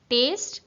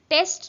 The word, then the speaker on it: taste: Taste this. ମୁଁ ଆଉ ଥରେ କହୁଛି pronunciation ଉପରେ ଫୋକସ୍ କରିବେ. ଏଇଟା ହେଉଛି taste. Test ନୁହେଁ. Test ନୁହେଁ. Taste.